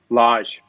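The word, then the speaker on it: Lage: here this so julian how do you pronounce his last name lodge lodge yeah and this is uh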